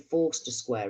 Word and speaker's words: Forster Square: There's a place here called Foster Square, but it was called Forster Square. It was actually spelt Foster Square, but pronounced Forster Square.